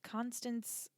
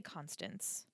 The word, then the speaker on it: Constance: Jude's and Constance uh Billard. Is that how you say it? Billard. They always just say Constants, but it's Constance.